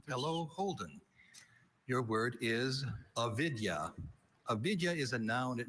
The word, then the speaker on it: avidya: Avidya. Are there any alternate pronunciations?